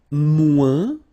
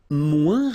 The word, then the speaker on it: moins: And then, moins, same thing here. Remember, we don't pronounce the final S. Then you put the adjective que, then, and the rest of the sentence. Okay? Elle est moins rapide que moi.